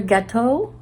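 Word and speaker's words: gâteau: more of the so sampler gateau to rhyme with chateau unless somebody corrects me.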